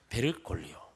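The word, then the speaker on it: Bergoglio: 베르골리오. 발음을 좀 더 강하게 하면 안 됩니다. 베르골리오 그러면 안 되고 골리온지 모르겠지만 어쨌든 하여간 호르헤 마리오 베르골리오라고 부르는 76살 되시는 분이 주기경이 됐다고 합니다.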